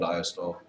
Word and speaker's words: diastole: systole and diastole these terms are pronounced systole and diastole diastole that's how those